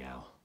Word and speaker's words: Al: You can call me Al. Rhymes with pal.